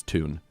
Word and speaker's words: Thune: Thune. Then it's Tune because he puts pronunciations on here as opposed to their actual names.